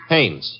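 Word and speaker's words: Haines: Hannes.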